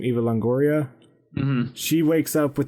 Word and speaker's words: Eva Longoria: And and Eva how do you say her name? Eva Longoria.